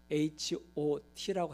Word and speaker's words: H.O.T: 핫이라고 하는 게 아니라 H.O.T라고 해야 되는 겁니다.